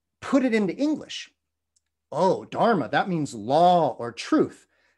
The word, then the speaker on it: dharma: but now we see the sanskrit pronunciation dharma with that hard r and next to that